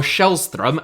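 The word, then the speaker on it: Källström: had returned all told kellstrom or shellstrom as I believe it is properly pronounced in Swedish Play Just 135 minutes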